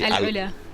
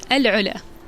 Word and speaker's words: AlUla: Alula. What? Alo. Alo. Yes. Close enough. Not alula, but alo.